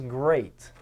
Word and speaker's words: great: 126 great no units it has the word eat in it so you got to be careful it's not greed it is great where has an ER